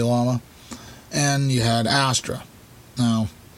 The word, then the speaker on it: Llama: You had Star, and then you had Llama, or Yama, that's how it's pronounced, but most people say Llama, and you had Astra.